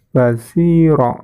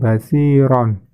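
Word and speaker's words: بصيرا: Karena itu di akhir ayat dan dibaca wakof, maka bacanya basiro ya, bukan basiron.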